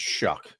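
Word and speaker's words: Shough: We we found out his name is Shuck. Shuck. Yeah, it's weird weird pronunciation.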